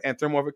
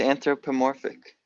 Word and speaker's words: anthropomorphic: that the number of anthromorphic creatures and species of wealth animals, you said it right before it was anthropomorphic.